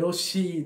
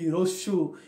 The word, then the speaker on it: হ্রস্ব: না, আমরা বলতাম যে রস্মি দীর্ঘী হ্রস্ব, এই যে বলতাম, উচ্চারণ আমাদের একটু ভুল ছিল। আসলে বিষয়টা হচ্ছে এই, উচ্চারণটা হবে এরকম যে হ্রস্ব এবং দীর্ঘ।